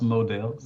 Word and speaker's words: Modell's: job what's called Modell's it's kind of spelled like models but it's not so that's pronounced models like target target is